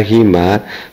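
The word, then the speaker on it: هُمَا: Jadi dhamir muttasil hu dibaca hi, huma dibaca hima bila sebelumnya harokat kasroh, atau bila sebelumnya kasroh atau ya sukun yang digabung menjadi satu.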